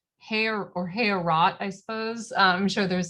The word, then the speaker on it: Heorot: I think I was maybe pronouncing the name of the hall wrong. It's Heorot, Heorot, I suppose.